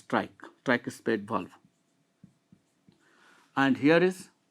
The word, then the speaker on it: tricuspid: Spelling tricuspid, but we pronounce trike.